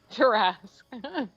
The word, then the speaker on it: Tarrasque: Terrasq? The QUE. space TARRASQUE. Got it. I thought it was TER. No. There it is. TA. Tarask.